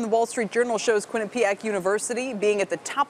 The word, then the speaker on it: Quinnipiac: Quinnipiac or is it Quinnipiac dr. it's Quinnipiac with the accent on the first syllable Quinnipiac okay I will